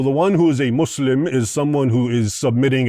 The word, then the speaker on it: Muslim: And it's not mus it's not Muslim, it's Muslim.